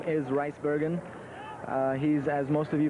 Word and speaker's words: Rijsbergen: The official pronunciation of the name is Rijsbergen.